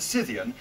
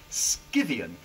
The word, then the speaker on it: Scythian: Well, you know, you can say Scythian, you can say Scythian. There are loads of correct pronunciations of these words.